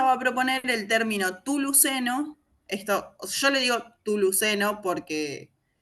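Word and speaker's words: Chthuluceno: Claro, pero esta idea de la CH con la T, ¿no? Que, bueno, por lo menos en las culturas precolombinas, se pronuncia como una T directamente, o sea, no está la Ok.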